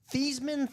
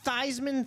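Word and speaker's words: Theismann: and the Joe Theman Thyman Thman. Whichever one he chooses to pronounce it or you know grandma pronounces it as because he changed his name pronunciation so that he'd try to win the Heisman.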